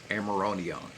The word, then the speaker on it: amiodarone: out of control is amiodarone. Amiodarone. That's how they pronounce it.